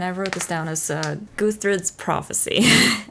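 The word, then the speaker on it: Gudrid: wrote this down, is Guthries Prophecy. I think that's how you say her name. It's spelled with a D, but I'm pretty sure it's a th sound.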